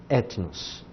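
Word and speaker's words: ἔθνος: Agora, junto com o espírito, ele tem aqui um acento, que é o acento agudo, esse daqui. Se ele tem um acento agudo, nós precisamos colocar ele aqui na nossa transliteração. Etnos.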